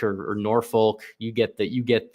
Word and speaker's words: Norfolk: so uh GJ says Norfolk doesn't get a hard L it's pronounced almost like